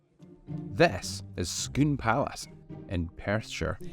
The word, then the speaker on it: Scone: This is Scone Palace in Perthshire. Never to be pronounced Scone, or God forbid, Scone.